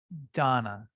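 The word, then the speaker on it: दान: it could go so dunna is this word i was talking about the beginning donna donna yeah there's a long a thank you donna donna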